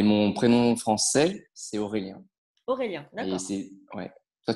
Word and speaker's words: Aurélien: Aurélien, Et d'accord.